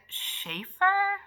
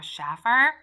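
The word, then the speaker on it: Shaffer: this is written by Mary Ann Schaeffer is how I think it's pronounced or Schaffer this is a movie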